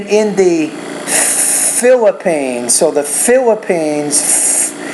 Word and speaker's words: Philippines: And then in the Philippines, so the Philippines, that PH is actually an F, and you have to pronounce that with a little bit more air coming through with your lips and your teeth coming together.